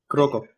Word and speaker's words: Kuroko: Like turn it into almost a D, like a Kuroko.